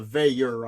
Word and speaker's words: Veilleux: And by the way, I've been saying it wrong. It's a Veilleux. I always forget. I call him Veilleux out of habit.